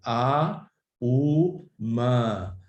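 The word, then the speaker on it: ॐ: So even the mantra Om, for example, has 3 syllables. A, U, Ma. A, U, Ma. These 3 syllables have different qualities to them.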